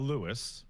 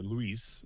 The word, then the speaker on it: Luis: I think it's wild how um so you're talking about Lewis or Luis as he's pronounced in game.